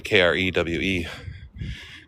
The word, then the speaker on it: Krewe: And they spell it with a K, Krewe. Crew.